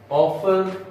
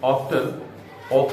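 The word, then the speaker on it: often: Ballad is a simple ऑफन sentimental song. Simple ऑफन ऑफ्टन और ऑफ्टन both are correct pronunciations.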